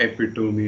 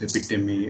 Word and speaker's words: epitome: all the time like it's not epic to me it's epitome and stuff like that which